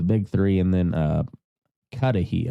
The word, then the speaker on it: Cudahy: three and then uh katahi I think is is how you pronounce it it's like c-u-d-a-h-y um but they were